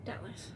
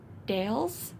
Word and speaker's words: Dallas: Dallas. Dallas. Okay. Thank you for enunciating it for me. I kept all day was like, is it Dales?